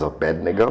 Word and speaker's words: Abednego: Although some pronounce, the most common pronunciation I've had nowadays is Abednego. That's what I say.